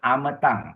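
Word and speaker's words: amataṃ: Third line forth word ametang. Ametang is short a short a short a ametang her. Amatang bigai her. Yes. All three are short a any of the A ya.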